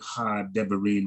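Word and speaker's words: הדברים: That's a Dagesh forte. So remember what we said, we double that letter. We double that letter. And if we double that letter, we double the Shiwa. And then the first Shiwa is silent. The second Shiwa is vocal. So that's how you get Ha Debarim out of that.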